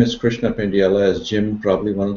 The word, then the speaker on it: Pendyala: before that uh uh my name is Krishna pendella as Jim probably one of the few people who pronounced my name correctly thank you Jim um